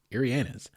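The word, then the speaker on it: Ariana's: a pizza restaurant and it is not ianas it is ianas it tells you right on the menu how to pronounce it it's very particular very specific it is Arianas um and had some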